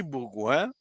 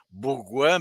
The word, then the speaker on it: Bourgouin: travail torture alors Henri Bourgouin ça s'écrit comme ça se prononce Henri bon prénom Bourgouin B o u R